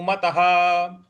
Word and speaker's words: मतः: है, स योगी परमो मतः। मतः, मतः के आगे जो विसर्ग है उसके आगे कोई शब्द नहीं है, कोई अक्षर नहीं है, इस वजह से उसका उच्चारण हम ह लाएंगे।